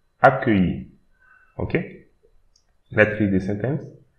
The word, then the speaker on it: accueilli: The double C here you should pronounce it like K. So, and again we have E, I, double L, so Y, I. So, accueilli.